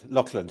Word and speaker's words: Laughland: I'm very happy to have with me John laand I might pronouncing your surname correctly L loand yes you are yes loand yeah loand you